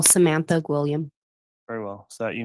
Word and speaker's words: Gwilliam: the next witness the state will call Samantha gam very well is that you miss Blake yes